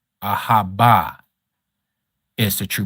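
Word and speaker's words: אהבה: Ahava is not the pronunciation. That is Yiddish. Ahaba. Ahaba is the true pronunciation.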